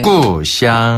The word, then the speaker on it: 故乡: 꾸샹. 한 번 더. 꾸샹. 꾸샹. 네. 고향이라는 그 한자 발음을 중국식으로 바꾸면 바로 꾸샹이라고 하는데요.